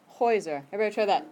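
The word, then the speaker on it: Häuser: the a good yeah if you have two vowels next to each other and it goes on the first of the two ok so the plural is pronounced heuser ever try that heuser kind of that block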